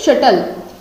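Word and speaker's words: subtle: Next word क्या होगा, शटल, ठीक है, इसको क्या बोलेंगे, शटल, क्योंकि बी साइलेंट हो गए तो क्या बना, शटल।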